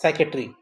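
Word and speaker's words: psychiatry: कहता है ए मैन who practice साइकेट्री, ये पी साइलेंट रहता है, एस से ही आता है साउंड।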